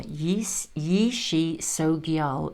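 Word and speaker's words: Yeshe Tsogyal: There we are, Yishi Sogyal, a yogini guardian for humanity and an emanation of the compassionate goddess of peace, prosperity and long life, known as White Tara. Yishi Sogyal's power is that of the tiger cedar or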